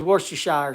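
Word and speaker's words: Worcestershire: an idiot that's not the way the word's pronounced I use Worster Shire sauce uh but anyway I use like a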